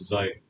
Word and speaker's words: xi: And it is pronounced as xi xi.